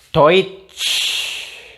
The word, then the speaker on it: Deutsch: Nih, EU bacanya OI. DOI. Do terus doi terus tambah T. Doit. Terus tambah sh. Deutsch. Nah, Deutsch. Deutsch. Bukan Deutsch. Beda ya. Deutsch sama Deutsch. Nah, itu kan beda. Jadi ini bacanya Deutsch.